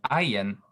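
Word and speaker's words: ayin: aleph is completely silent but the iron it has been called a glottal stop the pronoun the precise vocalization is somewhat akin to the ing sound at the end of english words so actually it's probably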